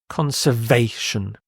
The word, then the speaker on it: conservation: electricity the next word conservation conservation you stress here conservation conservation and this means